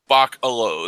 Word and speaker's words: Bachalo: I thought it was Bachalo. Well, because that's another thing. Comics, you only see the name, but you never actually hear it aloud. So it's Bachelo. So I think Bach, the composer, Bachalo.